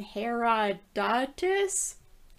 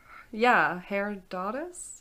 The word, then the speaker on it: Herodotus: The Greek historian Herodotus? Oh, right. I have to say his name in mine too. Herodotus? Yeah, that's what the internet said. Herodotus.